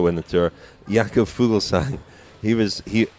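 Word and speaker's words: Fuglsang: the tour yeah cool fool sang he was he Jakub fool science and silent G he was seventh he's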